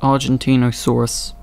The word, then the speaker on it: Argentinosaurus: It's pronounced Argentinosaurus.